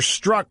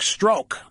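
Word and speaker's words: Strzok: struck by the way I've heard both pronunciations that's why I'm using both names it's either Peter struck or Peter stroke but I like the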